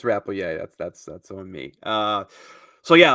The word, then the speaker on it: Rappleyea: I said Rappleyea last week. It's Rappleyea.